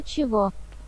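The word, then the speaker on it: чего: Sto chivo. Chivo. The gun. Kova and chivo is pronounced like v. G is always pronounced v in the genitive endings of pronouns and adjectives.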